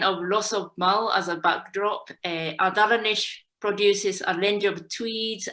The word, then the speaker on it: Ardalanish: Ardalanish, I pronounce okay, Monica?